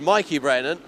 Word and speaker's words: Brennan: Now I'm told that Mikey Brennan's name is pronounced Mikey Brennan. However, on my timing screen it does read as being Mickey Brennan.